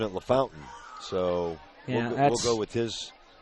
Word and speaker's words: LaFontaine: Well, Jamie's pronouncing it LaFountain, so we'll go with his pronunciation.